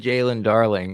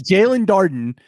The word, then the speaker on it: Jalen Darden: You said Jalen Darling. Whatever. Oh, David Darling. Yes. Anyway, yes, Jalen Darden.